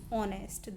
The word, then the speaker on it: honest: Again, word is starting from H, but we pronounce it as honest.